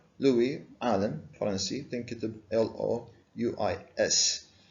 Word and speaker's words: Louis: allen parlancy think it l-o-u-i-s s is silent fit in the for